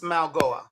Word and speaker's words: Mauigoa: I I had Francis uh uh the offensive tackle uh what is it Manal Manal Manalwa? Uh it's Francis Mauigoa.